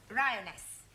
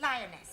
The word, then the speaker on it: lioness: of the following lion roness lioness ress no l l r r you're not saying it right very sorry I know try saying roness lioness good well in future every